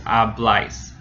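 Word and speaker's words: habláis: And likewise with hablais, we have an accent mark. So it's the last syllable. It's hablais.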